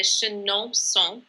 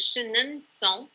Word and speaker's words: Chenonceau: the chateau of Chenonceau, which we pronounce with a Chenonceau sound today, but it might have been pronounced as Chenonceau when it was built.